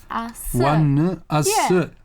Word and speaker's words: ONEUS: okay so today we have finally one asou one assert yeah that should be the pronunciation yeah by the way the the Korean